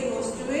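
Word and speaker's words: Rostow: रोस्टो पढ़ सकते हैं क्योंकि प्रोनाउंसिएशन से रोस्टो ही होगा।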